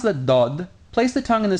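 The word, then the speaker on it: ض: position you would use to pronounce the Dal but move it back a little bit so it gives a more resonating and a bit more emphatic sound remember that the Dodd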